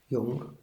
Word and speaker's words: Jung: Hay cartas que él intercambia con su discípulo Jung, Jung, algunos lo pronuncian Jung en alemán.